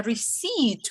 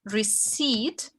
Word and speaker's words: receipt: Receipt. What's this silent letter here? Receipt. P. P. Yeah, P we don't pronounce.